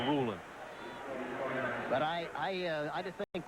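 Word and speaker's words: Rulon: applying the pressure and roland jones prefers his first name pronounced ruling sometimes you hear that roulon jones but he said it's ruling but i i i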